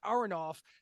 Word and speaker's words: Aronoff: And for the record, just to dump on John Mellencamp a little bit more, Kenny Aronoff, you were saying the name wrong, so I didn't know who the fuck you were talking about.